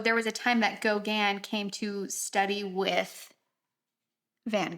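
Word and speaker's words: Gauguin: like hear how it's are you ready yeah Gogan Gogan okay I wasn't too far off um so there was a time that Gogan came to study with Van Gogh and that's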